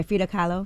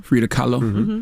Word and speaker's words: Frida Kahlo: like uh i know i'm gonna pronounce her name wrong for frida kahlo hey fida carlo frida kahlo yes she was a paraplegical used to paint